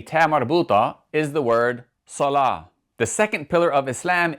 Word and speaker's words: salah: So for example, a very common Arabic word that ends with a ta marbuta is the word salah.